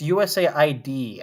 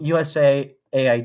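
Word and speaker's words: USAID: research us yeah USA it's USA ID actually is how it's supposed to be said but I guess it doesn't really matter does it it's spelled this spelled the same way um USA Aid USA potato potato tomato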